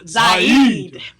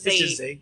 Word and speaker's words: Zaid: Because I was always pronouncing it wrong. Yes, I was giving. She was putting a little extra. I was saying Zaid. I was putting a little Zaid. And you was like, no, it's Zaid.